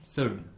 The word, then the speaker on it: should: वुड, COULD कुड, SHOULD शुड। इस प्रकार के और भी सभी शब्दों में L कम्प्लीटली साइलेंट होगा और इसका हम कोई उच्चारण नहीं करेंगे।